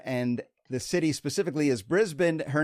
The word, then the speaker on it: Brisbane: Brisbane, is that correct? You know what? You've got it spot on. Brisbane. All right. I'm working on it. I'm working on my Australian pronunciations.